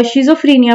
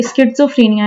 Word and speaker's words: schizophrenia: अक्सर लोग शिजोफ्रेनिया pronounce करते हैं। लेकिन मेरा ख्याल है कि स्किफ्रेनिया इसकी सही प्रोनाउंसिएशन है।